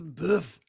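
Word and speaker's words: bœuf: Bradford next question well if you're cooking in French it's buff yes it is my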